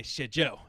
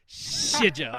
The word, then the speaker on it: Shijo: And I always wanted to say Shijo, and he's like, no, say it like you're about to say shit. Shijo.